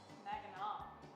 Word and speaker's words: Mackinac: Mackinac. That's how it's pronounced Give here.